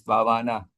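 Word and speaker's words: Bhāvanā: So here, if you look here, Bhavana, that means Bhavana. The word Bhavana is technically is a long A here.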